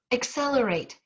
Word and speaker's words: accelerate: you say it accelerate where is the stress pattern inaccelerate accelerate whoops i better get four fingers up there accelerate if you call your dog accelerate accelerate accelerate it would be the second syllable right is that what